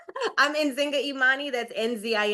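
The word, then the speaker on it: Nzinga Imani: I'm Enzinga Emani.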